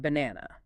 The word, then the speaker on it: banana: Take the word banana. B-A-N-A-N-A. 3 identical letter A's. Do they sound the same? Acoustically and physically, they are completely different. Yeah. In banana, only the middle syllable carries lexical stress.